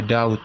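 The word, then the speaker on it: doubt: this is possible nah sini kau ini bacanya Daud ya Bukan ini b nya yaitu silent Rider ya ataupun huruf yang tidak ikut dibaca ya So this is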